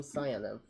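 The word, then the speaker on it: Sayanev: about you what is your name I am cev cev yes definitely going to need you to spell that one uh s a y a n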